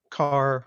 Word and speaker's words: char: in long and and car or Char depending on how you pronounce it um maybe Boolean